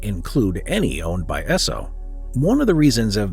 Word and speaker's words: Esso: emblem coming to mind the name Esso actually comes from the phonetic pronunciation of the first two letters in the word Standard Oil s and O and given so's history